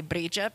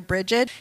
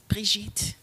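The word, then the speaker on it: Brigid: I come from a Scots Gaelic background, so I say Bridget because that's how my people say it, but you'll hear Bridget in this ritual too. They're both correct, and there are other pronunciations as well. I think the one that is not accepted is Brigitte.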